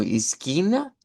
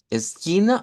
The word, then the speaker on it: esquina: Igual va a escoger si lo dice como esquina, esquina o esquina.